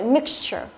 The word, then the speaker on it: mixture: Và sau đó chúng ta biến đổi thành danh từ thì chúng ta thêm cái đuôi chờ đằng sau thì trọng âm của nó vẫn không thay đổi, vẫn rơi vào cái mix này. Vậy mixture. Rồi, như vậy câu này